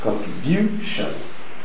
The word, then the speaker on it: contribution: Where is the stress of the word? Is it on the first? No. If it's on the first, it will be like contribution.